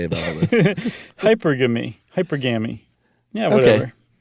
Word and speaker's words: hypergamy: Hypergamy? Like monogamy. Hypergamy. Okay. Hypergamy. Hypergamy. That's what I'm going with. Finally stumbled upon it. Wonder what Yitzi has to say about all this. Hypergamy. Hypergamy.